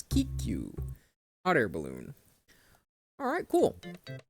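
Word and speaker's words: ききゅう: QQ. QQ. It's the extended U sound. Or no, Kiku.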